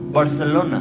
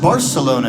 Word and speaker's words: Barcelona: and I said I think it's pronounced Barcelona and she said oh no and a banya they say Barcelona and I said well that might be true but when you say you sound stupid Home Depot started